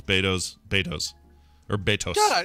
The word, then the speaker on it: Beto's: Makes and it's pronounced Beto's. It's not Beto's Burritos. Mm, it's Beto's.